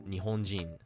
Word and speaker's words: Nihonjin: The one notable exception to this rule is Nihonjin, where the accent drops after -ji. Although in other dialects, you often hear Nihonjin.